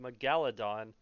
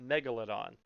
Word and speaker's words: megalodon: of the megalodon which is yes it is pronounced megalodon not megalithon a lot of people will sit there and